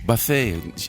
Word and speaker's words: Bathe: Ryan Michelle Bathe. Did I say the last? What's it? Bathe. Bathe. I told you, because I saw accent on the E.